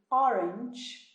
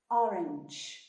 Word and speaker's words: orange: Nesse caso do orange, o G tem um sonzinho de J, mais para D do que para G, né? Orange, orange, tá? Lembra também, no começo, o O, tá? Não fala O, não, tá? Pode falar mais aberto mesmo.